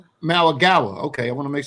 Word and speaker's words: Mauigoa: And I think we can go ahead and kick that off with your guy, how you say it, Francis Mauigoa? Mauigoa.